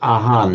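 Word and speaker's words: อาหาร: They pronounce it aan in in Thai, but it's the same it's the same word.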